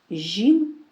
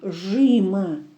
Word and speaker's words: жим: Жим маленький. Жим Вот обратите внимание, как мы произносим после буквы «ж» и «жим», «жим», мягко, «жим». Не как в русском языке «жима», нет, «жим», и именно «и» произносим.